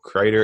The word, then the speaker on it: Crider: Crider is spelled like cider, but with an R.